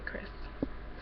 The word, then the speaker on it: Krys: by Michelle Chris uh other people pronounce it priz but I say Chris so yeah uh first